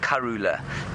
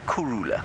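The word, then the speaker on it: Kurhula: you hear a Shangan person pronounce it, it sounds a little bit like Karula. Um but it's actually Kurula. K U R H U L A.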